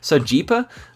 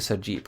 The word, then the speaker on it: Sergipe: the same time, but Sergipe, I guess it's actually Sergipe, right, in Portuguese. I don't know. I always thought it might be Sergipe, but I guess not.